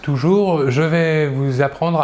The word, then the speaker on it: vais: À la première personne, je vais. À la deuxième personne, tu vas. Nous voyons ici que pour les deux premières personnes, le S final ne se prononce pas.